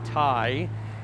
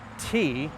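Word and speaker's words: Tŷ: Okay, for this you'd probably say Thai, and for this, well, who knows what you'd come up with. This is Welsh. It's actually pronounced tea, like the drink, and Clwyd, even though there's no K in there.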